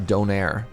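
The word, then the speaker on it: döner: But does it have donaire or sorry as the Germans like to pronounce it duner?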